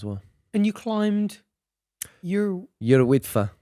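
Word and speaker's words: Yr Wyddfa: And you climbed your Yrwidfa. Is that how you say it? Yrwidfa. Yeah. Yeah. Tough one for us to pronounce, I think. Yeah. But, also known as Mount Snowdon.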